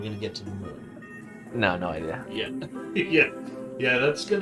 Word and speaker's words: Mun: Well, so the Mun it's actually pronounced Moon. Is it really? It is, yeah. I'm gonna call it the Mun.